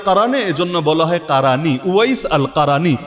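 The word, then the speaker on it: أويس: কিন্তু আল্লাহ তার এমন ভাবে প্রকাশিত করে দিয়েছেন, ওয়াইস আল কারানিকে চেনে নাকে, ওই বাংলায় হয়তো ওয়াইজ কুরুনি বলেন আর কি আপনারা, এটা ভুল উচ্চারণ।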